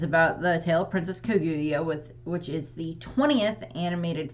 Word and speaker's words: Kaguya: No, today I am going to be talking about the tale of the Princess Kaguya.